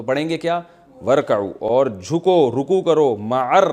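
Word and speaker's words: وَارْكَعُوا: तो वाव शुरू में आ गया तो अलिफ साइलेंट हो गया वर असल में था व इरकाउऊ तो पढ़ेंगे क्या वरकाऊ और झुको रुकू करो मर राई झुकने वालों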